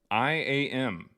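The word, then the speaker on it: I.AM: It's pronounced I am. Oh, okay. Well, the first word, I, is spelled like I, like an eyeball. And then it's a dot. And then you put AM all caps.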